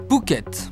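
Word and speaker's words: Phuket: paradis des plongeurs Pouquet en deux syllabes tout est dit dans la mer d'Andaman l'île de pouket est la plus grande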